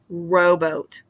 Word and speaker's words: rowboat: Again, rowboat is an example of the first syllable having that long O sound and the accented syllable there in the first, rowboat.